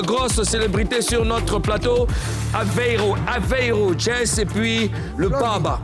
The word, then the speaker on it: Aveiro: Alors, Mouloukoukou, Karina, Alvero Jazz, j'ai du mal à prononcer le Alvero. Hein. Moi, c'est Aveiro.